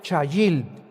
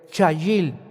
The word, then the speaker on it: chayil: La palabra hebrea chayil. C h a y i l en el hebreo. Chayil.